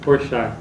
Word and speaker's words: Porchat: Porchat, é o método Porchat. Mas não é o Porchat, o humorista, não. Humorista, se escreve P-O-R-S-C-H-A e C-H no final, uma coisa assim.